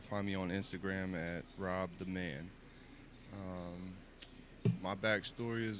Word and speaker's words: RO66: Rob. My name's Rob. It's spelled RO66 though. So like instead of two B's, it's two sixes.